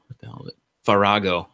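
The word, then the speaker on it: Farage: Well, I can't even pronounce the damn name. Figaro or what the hell is it? Farago, not Figaro.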